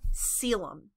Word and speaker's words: coelom: three layers is a selem and i know you're looking at that word you're like that's not how you pronounce that but it is soas and i like